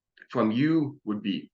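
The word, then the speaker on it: uaidh: Said like the letter Y.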